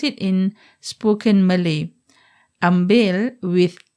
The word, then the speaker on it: ambil: with a k at the ends as we pronounce it in spoken Malay ambil with L is the proper Malay MC a